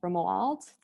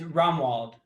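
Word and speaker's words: Romuald: of our neighbors but i'm going to say it wrong girlfriend remo alt it's rumwald romwald yeah but ramon ronwald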